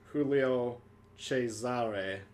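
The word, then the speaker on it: Giulio Cesare: in case you're wondering it's pronounced julio chesare which i like the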